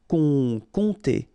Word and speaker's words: compter: Compter. Remember, you don't pronounce the P here, and then this OM together will produce the nasal on, compter, compter.